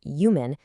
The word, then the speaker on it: UMAN: That's pronounced human stands for the Unified Martial Arts Network.